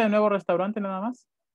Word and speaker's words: Restaurant: No, me pronuncia de nuevo restaurante nada más. Restaurant. Resto. La A y la U es una O en francés.